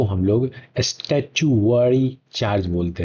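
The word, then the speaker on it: statutory: Charge को हम लोग स्टैच्यूटरी चार्ज बोलते हैं। क्या बोलते हैं? स्टैच्यूटरी चार्ज बोलते हैं। प्रोनाउंसिएशन गलत हो सकता है बट आप समझे, ठीक। स्टैट्यूटरी चार्ज इसको बोला जाता है।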